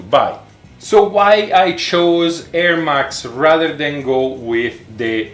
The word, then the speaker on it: Ermax: feels really really solid this is produced by erMax sorry for the accent the erMax is spelled e R max M a X it's